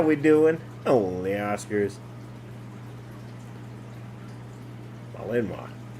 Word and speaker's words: Malinois: Malinois. It's French. Apparently I said it wrong. Huh? I do that. You I said it. what wrong? I said it wrong. Malinois. Malinois. Yep. That's what it is.